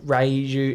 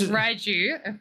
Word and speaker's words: Raiju: It's Raiju. Raichu. Well, but it's like hold the scoreboard. Yeah. It's like Raiju, isn't it? But you've got to say it like Raichu. See, look, where is it? Raiju. Raichu. Raiju. Raiju. Yeah. It's Japanese, so.